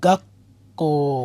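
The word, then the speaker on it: 学校: তাহলে কি হবে, গাকু এবং ক মিলে গাক্ক উচ্চারণ হবে, গা গাক্ক উচ্চারণ।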